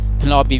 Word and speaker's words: Penelope: Penelope we pronounce it, and so she is the faithful wife.